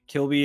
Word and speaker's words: Kilby: East yeah that's Kilby Kilby is the uh oldest settlement from the commission uh now Mr Lance I was about to ask how was that spelled like Kirby but with an L Kilby yeah Kilby was